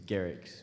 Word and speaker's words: Gerics: It's Gerics with a hard G.